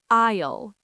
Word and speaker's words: aisle: Islele. A I S L E. Isle. Like the aisle in a supermarket or airplane.